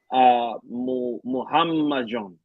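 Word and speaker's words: Muhammadjon: Wait, so pronounce Naimov's first name again? Muhammad John.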